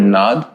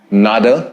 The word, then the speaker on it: nada: you translate this word nad nada because of the spelling but ideally it if you go by traditional means if you go by sanskrit methods or standards then it should just